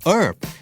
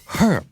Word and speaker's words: herb: ในอเมริกัน English แต่ถ้า British จะอ่านว่า schedule นั่นคือความแตกต่างนะครับ schedule ถูกทั้งคู่และหมายถึงตารางครับคำต่อไปหมายถึงสมุนไพรนะครับทางฝั่งอเมริกันจะออกเสียงว่า herb herb แต่ไม่ออกเสียงตัว h ก็จะออกว่า herb เป็นออ่างนะครับแต่ทางฝั่ง UK จะออกว่า herb โดยออกเสียงตัว h ด้วย herb คำเดียวกันครับคำต่อมาครับบ้านเราอ่าน root อเมริกันอ่าน routeและ